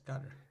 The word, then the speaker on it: Qatar: no you no car it is pronounce gutter Qatar okay before I throw